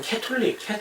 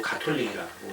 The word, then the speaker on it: 가톨릭: 우리가 쓰고 있는데 이제 가끔 캐톨릭 이렇게 미국식으로 발음하는 경우가 좀 있고 사실 그거는 이제 별로 바람직하지는 않은 것 같고 천주교라고 발음하거나 아니면 이제 우리 용어로 가톨릭이라고 이제 발음을 하는데 이제 음문학적으로 보자면 언어학적으로 우리가 CATHOLIC 그래서 가톨릭이라고 읽어야 될 것 같은데 분명히 가톨릭으로 읽는단 말이에요.